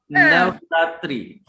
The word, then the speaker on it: Navratri: difficult to pronounce. Okay, speak it with me. Navratri.